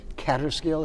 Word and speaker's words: Kaaterskill: our next interview is with charles kutcher of catterskill is that the critic that's the correct pronunciation catastrophe books and i'm going to ask